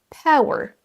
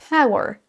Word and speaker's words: power: La même chose pour power, power, A ou E.